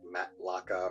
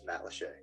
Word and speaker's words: Matt Lachey: to pronounce Matt Lachey it looks a lot like Matt laca or Matt lacha but it is Matt Lachey yeah good question yeah